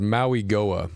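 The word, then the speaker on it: Mauigoa: I believe the Machine proper pronunciation is Maui Goa.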